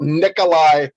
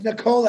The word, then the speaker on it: Nikola: caught you're talking about nikolai tesla no it's nicola actually if you pronounce it correctly okay i beg the